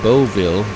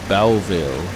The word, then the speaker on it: Boughville: Marie, the first stop is Boughville. It is often mispronounced as Boughville, but it's actually Boughville.